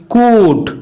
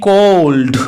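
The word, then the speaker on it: could: শুধুমাত্র COU এবং ডি এই চারটে মিলে হয় কুড, এই কুডেরই উচ্চারণ করা হচ্ছে, না হলে কিন্তু এটিকে কোল্ড বলা হতো।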